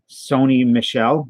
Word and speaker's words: Sony Michel: what did I say Taco Sony Michelle is how you say his name was this that is